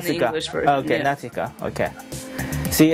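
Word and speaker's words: Nausicaä: Natika or it's it's it's pronounced Nasika English. Okay. Nasika.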